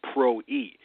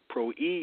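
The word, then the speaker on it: πρωΐ: word Pro II it's prw I and it's pronounced Pro II Pro II means the daybreak watch in the renewed testament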